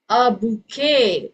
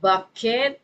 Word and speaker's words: bouquet: bouquet. Instead of bucket, it's a bouquet.